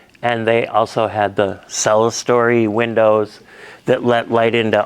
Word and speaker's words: clerestory: Things that make this building unique are the, I forget the pronunciation, clerestory? Cell story. Sa? Cell story. Go ahead, try again. Cell story. Cell story?